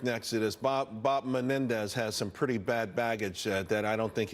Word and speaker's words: Menendez: other day for Bob Menendez but they mispronounced his name and said you got to vote for Mendez I said no it's